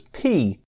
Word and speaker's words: p: was clearer and quicker to pronounce the new coins as P.